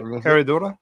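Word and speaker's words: Herradura: Michael, correct me if I'm pronouncing wrong. Heroda. Heroda. Herodora. Yeah. No, you got it. Herodora.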